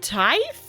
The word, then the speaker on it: tithe: A tithe? Teeth? Once again, nobody told me how how to pronounce this thing. You'll just hate me. I'm pretty sure that's exactly what it is. Nothing else. It's just you all hated me. There we go. There we go. Ah! Not teeth. Yeah, I was like, is it tithe?